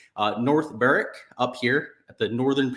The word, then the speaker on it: North Berwick: ton of rain in North Berwick actually it's north Barrack it's the way that you say it there's no W in the pronunciation uh North Barrick up here at the